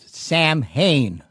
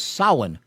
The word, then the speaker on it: Samhain: The name of it was Samhain, but it's spelt as Samhain.